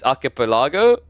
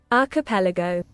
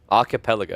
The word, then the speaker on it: archipelago: mean that's a new one for sure is arael Lago uh I'm pretty sure it's not I used to pronounce it like that and the amount of